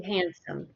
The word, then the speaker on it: handstand: it with a a handstand oh he's not in i'm very confident with that never yeah because we we have to pronounce the h so we're going to